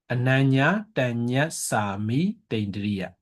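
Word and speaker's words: anaññātaññassāmītindriya: Ananya Tanya Sami Tendriya. Yeah. Ananya Tanya Sami Tendriya.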